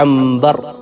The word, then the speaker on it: عنبر: نام میں عین آئے، ہم کہتے ہیں امبر۔ اب امبر کو اگر دیکھیں تو الف نون بے رے ہوگا، اصل میں کیا ہے؟ عنبر ہے، عین نون با را، عنبر۔ تو اسی طرح وہ